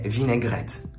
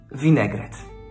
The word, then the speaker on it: vinaigrette: niezupełnie przepraszam za chwilę po francusku mówi się winegret w polsce wystarczy powiedzieć winegret i jeszcze jedno ten